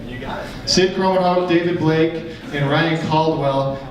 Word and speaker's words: Krommenhoek: We have Sid Krommenhoek. I've never said your last name. That's the first time I've ever said it. Did I say it right? You got it. Sid Krommenhoek, David Blake, and Ryan Caldwell.